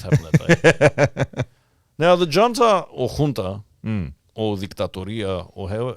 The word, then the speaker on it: junta: And it's spelt with a J. It's actually junta.